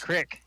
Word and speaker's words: creek: You say That's crick. what I. Yeah, right. That's how it's spelled.